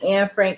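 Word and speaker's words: Anne Frank: had pronounced her name instead of saying Ann Frank I pronounced Annie or whatever like I was saying Annie and um I would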